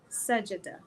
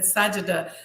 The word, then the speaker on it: Sajda: He said her name is pronounced Sajida. So he said Sajida.